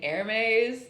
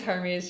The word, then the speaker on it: Hermes: Also, I'm pretty sure that you're supposed to pronounce his name Hermes, and someone asked us that one time, because that's the Spanish pronunciation.